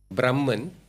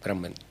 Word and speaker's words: Brahman: I always say it like this, Brahman is the formless God, Brahman, okay? Formless reality, formless energy, Brahman. Brahman, with the N.